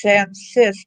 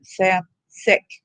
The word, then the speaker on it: Sam Sisk: I tried to fix it, but it's Sam Sisk. It's not Sam Sick. See how it's spelled?